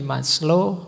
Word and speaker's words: Maslow: Jadi moralitas itu kalau di Maslow, Abraham Maslow, ini bukan Maslow membacanya. Maslow itu nama, jangan dibaca Mas itu ya Mas, Low itu rendah, jadi Mas yang kelas rendah. Enggak. Maslow itu lengkap.